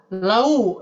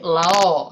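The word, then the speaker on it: لَوْ: Lalu yang kedua, lau, jadi lao ya, lao kanu ya'lamun. Ini kesalahan pelafalan juga. Jadi hati-hati, untuk ya sukun dibaca i, goi. Sedangkan waw sukun dibaca u, lau ya. Tidak dibaca o ataupun tidak dibaca e untuk ya sukun ya. Baik, kita praktek dulu supaya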